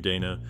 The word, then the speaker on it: Dana: in her distinctive style pronounced her first name Dana the same as the more common Donna their stories intertwine in